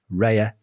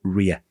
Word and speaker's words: Rhea: Our story begins in ancient Greece, where the ancient Greeks worshipped a goddess called Rhea or Rhea. You can pronounce it either way.